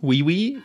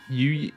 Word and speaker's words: Yuji: How do you say his name? Wee Wee? Yuji.